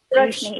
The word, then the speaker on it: Roshni: And Rushni, right? Is that the correct way to pronounce it? Roshni, yeah. Yeah, Rushni. So for you being young